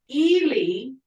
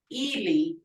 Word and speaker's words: Eli: Eli. Ihli sounds, and that means foot or leg. So just how you pronounce these, Eli, Ihli, because it's the two short I sounds, Ihli.